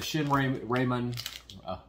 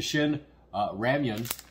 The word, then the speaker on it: Shin Ramyun: So we'll do the Shin Ramen, saying it wrong, the Shin Ramyun ramen.